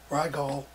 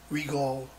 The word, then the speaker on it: Rigol: video on this uh rygall regal regal and harder to pronounce it i think if they wanted it pronounced regal they would have spelled it r e g r-e-g-a-l but anyway it's uh the